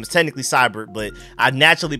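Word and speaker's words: Seibert: it also moving on to special teams Austin cyborg AKA Austin cyborg I know his name is technically cyber but I naturally pronounce it as cybor because I keep accidentally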